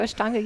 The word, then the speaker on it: Ashtanga: Yeah, Ashtanga. It's the A, not the I. What the heck is that? So Ashtanga yoga is a very...